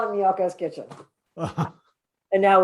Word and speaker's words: Miyoko's: The downside is for a long time, people kept calling it Mykonos. Oh, that's the Greek company. So that's one downside. People will be able to pronounce it. Is it Miyoko's?